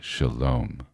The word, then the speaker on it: Shalom: Shalom. Shalom. It's heart chakra. Yes. The the sounds not sharp. Shalom. Shalom at the end. Right. The m really brings it in.